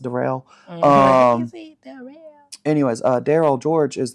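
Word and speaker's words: Darryl: me going into uh what's his face it's pronounced derell anyways uh Daryl George is the most recent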